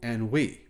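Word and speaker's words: Anhui: where they manufacture new electric cars it's called Ani it's spelled a NH UI and it's a joint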